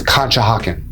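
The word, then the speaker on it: Conshohocken: talk about that's located in Montgomery County is kah hakin and yes that is how you pronounce it kah hawan also known as Ki for short kah hakin is located only around 30 to 35 minutes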